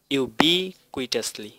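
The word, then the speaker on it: ubiquitously: এটার উচ্চারণটা হচ্ছে ইউ বি কুইটাসলি, আমি আস্তে আস্তে বলছি ইউ বি কুইটাসলি, ইউ বি কুইটাসলি।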